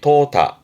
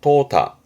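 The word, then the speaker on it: 淘汰: 발음이 토타 토타 앞에 도자도 아래 그림처럼 그 쌀을 싣는 쌀을 때 쌀 도자인데 그러면 이제 쌀을라는 것은 불필요한 거를 빼는 거거든요.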